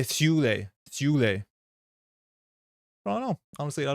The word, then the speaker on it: Thule: I think Thule is named after the Swedish city now, which is pronounced more like Thule. I don't know, Gyro. I'm not 100% sure. I think on the pronunciation guide that went up on Forbias, it did say Thule.